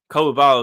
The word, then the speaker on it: Coulibaly: You probably have 2-3 years away where it's okay, Coulibaly is going to take a little bit of a jump.